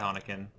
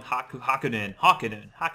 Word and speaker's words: Hakunin: Just be quiet, Hanakin. Alright. Probably pronouncing that wrong. Hakunin.